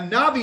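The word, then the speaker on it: נביא: who is it a navi is a prophet okay in a navi okay a Nabi that'll be pronounced as a v sound because it's not the first letter in the word but a navi is someone if you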